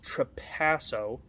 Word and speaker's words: Trapasso: they caught this uh chris trapasso emphasis on the second part of his last name no but he said